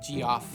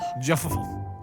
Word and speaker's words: Geoff: As a kid, I used to pronounce it G-off. Me too. I'm like, what the hell's this guy's name? Geoff? Jeffafa. Jeff. I feel like you have to have that shaped mouth to do it.